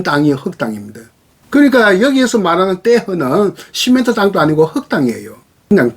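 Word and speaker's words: terre: 프랑스 말로 떼허. 영어식으로 읽거나 라틴어식으로 읽으면 테라가 되겠는데 프랑스 발음은 R이 히읗으로 발음 나는데 떼허입니다.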